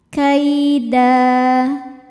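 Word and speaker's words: كَيْدًا: Da jika berhenti hukumnya mad iwad, karena ada harokat tanwin fathah yang diwaqafkan. Cara bacanya tanwinnya diganti dengan bunyi fathah saja ya. Jadi tidak ada bunyi n-nya, lalu panjangkan 2 harokat.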